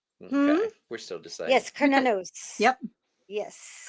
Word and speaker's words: Cernunnos: Cernunnos, Cernunnos. There's a couple of ways to See, pronounce this, but it's the always traditional it's way always a is, k. It's yeah. always a k sound.